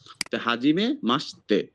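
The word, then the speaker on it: はじめまして: সশির উচ্চারণটা স হবে। যখন তে থাকবে। তখন একদম শেষের অক্ষরটা হচ্ছে তে। হাজিমে মাসতে হাজিমে মাসতে কি প্রথম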